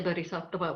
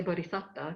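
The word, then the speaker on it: bodhisatta: In the paravana our idea of the bodhicatta we don't say bhisatta we say bodhicatta because that's the poly pronunciation that our ideal is that they're very rare and they are very very different.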